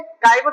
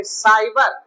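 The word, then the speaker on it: cyber: जैसे देखो, अब देखो सी के बाद क्या आया है, वाई, तो इसको हम क्या पढ़ेंगे, काइबर नहीं पढ़ेंगे, साइबर।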